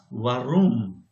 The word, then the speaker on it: Warum: So if you talk to those guys, you'll find that this R is not actually listenable. You don't hear it. It only comes out like a vibration of the throat.